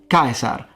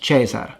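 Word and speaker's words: Caesar: And how do we know that the C in classical Latin was always pronounced like a K. So it's Ko, not Chichero, Kaisar, not Chesar, Kenturio, not Centurio.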